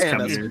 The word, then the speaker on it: Camus: Yeah, and nothing will sell DLC more than the guy that I thought name was pronounced Camus. It is pronounced Camus.